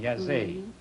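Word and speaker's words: Jassy: cities bucharest and yazi y-a-s-e it's pronounced it is spelled j-a-s-s-y oh bucharest and jazee and you wind up with 290 dollars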